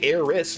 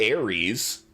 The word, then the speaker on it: Eris: But even if with the S, it's you'd say Eris, not Ares.